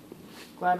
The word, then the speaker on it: Glad: Glad Wrap. It's pronounced Glad, not Glade. There's no E on the end.